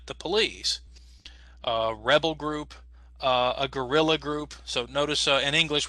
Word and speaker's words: guerrilla: So yes, if you want to sound like a Spanish speaker, so one more time, Belisario, say it again in Spanish. Guerrilla. All right, everybody, let's try it. Guerrilla. Guerrilla.